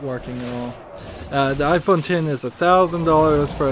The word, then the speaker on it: iPhone X: really video game related although I imagine the iPhone x or what's supposed to be pronounced iPhone 10 but I'm gonna call it the iPhone x